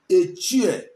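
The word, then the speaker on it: Etche: The real pronunciation is Eche, E-C-H-I-E. But when they want to write it to make it not sound Igbo, they write it E-T-C-H-E.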